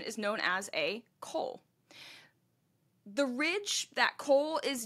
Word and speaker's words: col: coal by the way c o l is how it's spelled coal it is the lowest